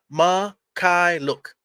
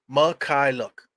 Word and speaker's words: Mykhailiuk: basketball reference basketball reference this is how you pronounce his name man it says right here on the top is fee ma Kai look listen SV Michael look that sound that's easy